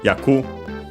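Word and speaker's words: 役: this case and then we have yaku uh on its own accent on the last syllable even though and it's a Chinese uh a Chinese pronunciation of the character actually this character only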